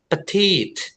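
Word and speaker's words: petite: So you have to say petit oke with with eh penekanan with with pressure here.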